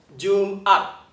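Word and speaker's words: Jum'at: 所以你听 June 跟 at 中间要顿一下，没有连起来哦，所以它不是念成 Jumat，不对哦，不是 Jumat，而是 Jumat. Jumat，中间有顿一下，这就是喉塞音。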